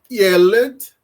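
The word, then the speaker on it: ילד: Todas as vezes que numa palavra em hebraico nós encontrarmos dois segis, segols, né? Eh, nós iremos falar o primeiro como sílaba forte. Então aqui a palavra yed. Yelled em hebraico significa menino.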